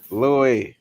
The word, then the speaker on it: Louis: Y'all already know, spelled like St. Louis.